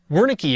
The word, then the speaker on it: Wernicke: lobe, and it's called Wernicke's area, named after the doctor who discovered it. Wernicke would probably be a better pronunciation.